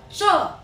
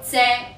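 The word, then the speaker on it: 柘: 木字旁，普通话只有一个读音，就是读哉。粤语读借，古同借。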